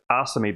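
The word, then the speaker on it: Asami: I pronounce it Asame because I thought the Japanese pronunciation puts the emphasis on the first syllable.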